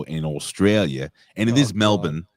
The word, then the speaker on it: Melbourne: Australia and it is Melbourne it is Melbourne not Melbourne I was getting I